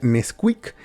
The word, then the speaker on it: NSQK: bueno este artista es nsqk se pronuncia Nesquik y es un regiomontano